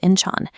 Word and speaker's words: Incheon: Looking at this high angle view of the terminal floor, you can see the immense scale of Inchan pronounced inch international airport.